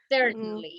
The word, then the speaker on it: certainly: you explained a lot I just want to correct something you say certainly uh certain have problem with that with that word with that don't worry you pronounce it certainly certainly yeah certainly yes that's the way